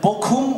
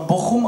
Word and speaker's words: Bochum: Bock heißt Scheiße und Bochum oder in vielen Regionen auch Bochum ausgesprochen heißt meine Scheiße.